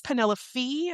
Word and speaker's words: Penelope: Last episode, I had mentioned the spelling or the pronunciation of the main character's name, and I was going to verify it. It is Penelope Fee.